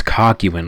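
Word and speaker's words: Kakyoin: Am I pronouncing that right? Dude, I used to pron Oh, Kakuan. Yeah, it's Kyuan.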